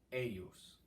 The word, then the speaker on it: eius: Dominum in atrio, not a trio, atrio, one word, sancto eius. Now, in eius, I know there's an I there, but trust me, just write in a Y.